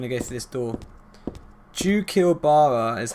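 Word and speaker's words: Xuchilbara: Jukilbara is how you pronounce it, otherwise known as Valtiel. Jukilbara.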